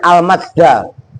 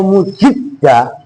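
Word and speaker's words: المجد: Itu bukan, itu bacanya al majda, keagungan. Kalau mujidda itu bisa kalian baca, cuman yang dimaksud ini benar al majda, keagungan, bukan mujidda.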